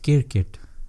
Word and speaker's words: cricket: It's pronounced, Asians pronounce it kirkit.